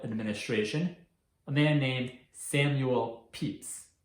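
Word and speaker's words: Pepys: a man named samuel peeps despite this spelling his name is pronounced peeps who worked as an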